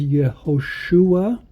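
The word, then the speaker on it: יהושע: Vav, Shin, Vav, Ein, which would be pronounced as Yehoshua, which would be either Joshua or Yehoshua.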